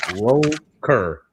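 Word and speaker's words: ROKR: So like roer is how you would pronounce that.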